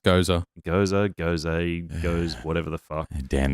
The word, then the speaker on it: Gose: It's pronounced Gose.